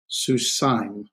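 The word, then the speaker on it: סוּסַיִם: That is a diphthong, and this would be susaim, susaim, susaim. That's the two vowels are pronounced as one, and it's one sound kind of thing.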